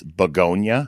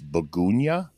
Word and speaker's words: Bogunia: Everyone says Bogunia, like Sean flower, Bogunia, like the flower, but in all reality, it's Bogunia. Okay.